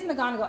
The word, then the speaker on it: McGonigal: It is McGonigal. Every time I say it, I think I'm saying it wrong, like the Harry Potter teacher.